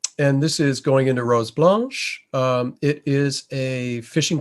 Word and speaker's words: Rose Blanche: and easy day sale east takes us to rose blanche is the way newfoundlanders pronounce this one and uh interesting we're sp